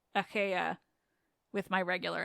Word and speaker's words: Achaea: And finally, it comes in handy that I no longer seem to be able to pronounce Achaea with my regular accent. Achaea. Anyway, Achaea sounds a lot more like Achiawa.